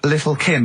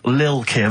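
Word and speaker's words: Lil' Kim: Now, Steve, I see there, it's a track by Little Kim, but how are you pronouncing it? I'm pronouncing that correctly, Lil Kim. Oh, no T's involved.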